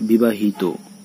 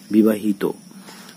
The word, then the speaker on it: বিবাহিত: ঠিক একইভাবে বিবাহিত, এখানে ইত প্রত্যয় বিবাহিত, তো এখানে কিন্তু তয়ের সঙ্গে তয়ের সঙ্গে যে অ রয়েছে এর উচ্চারণ ওয়ের মতো হয়ে যাচ্ছে।